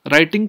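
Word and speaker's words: writing: अब जो राइटिंग वाला वर्ड है, राइटिंग का डब्ल्यू साइलेंट है, तो हमने आर पिक किया रिजेक्शन ऑफ एविडेंस।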